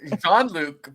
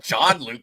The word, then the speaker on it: Jean-Luc: The pronunciation of Jean-Luc Picard, not John-Luc Picard or whatever you said. That was definitely a soft J.